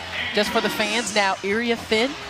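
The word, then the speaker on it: Iriafen: for the fans now IA fin not I offen I know that's how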